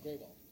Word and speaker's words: Gruhl: David Gruhl at, am I pronouncing his last name right? Ganesh? Mm-hmm. Yeah? Oh, Graywall. Mm-hmm. Graywall.